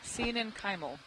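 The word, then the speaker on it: coenenchymal: Thank you Steve Oskovich for writing it out phonetically. And that's why sen kyimal sen kim.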